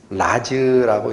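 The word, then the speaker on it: רָז: 아람어로 라즈라고 읽힙니다. 라즈. 그게 무슨 뜻이냐 했더니 비밀이에요.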